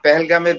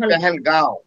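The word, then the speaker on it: Pahalgam: এই মানে এই পেহেলগামের বিষয় নিয়ে, আসলে এটা পেহেলগাম বলে ইংলিশে, আর এটাকে নর্মাল উচ্চারণে পেহেলগাঁও চন্দ্রবিন্দু দিয়ে।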